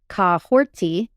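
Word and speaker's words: Kahhori: So her pronunciation of her name, while it's spelled Kahori, it's actually Kahorti.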